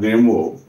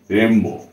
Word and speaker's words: Rimbaud: কি জিন নিকোলাস অর্থাৎ রেম্বো ঠিক আছে বানানটা কিন্তু দেখতে একরকম কিন্তু উচ্চারণটা কিন্তু অন্যরকম হবে কারণ এটা ফ্রান্স থেকে শব্দটা নেয়া হয়েছে সেই কারণে আচ্ছা দেখো এর ডিটেইলস